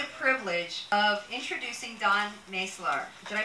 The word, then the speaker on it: Maslar: privilege of introducing Dawn Maslar. Did I pronounce that correctly? Maslar.